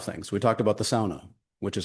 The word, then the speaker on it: sauna: We talked about the sauna, which is how you pronounce the word, please.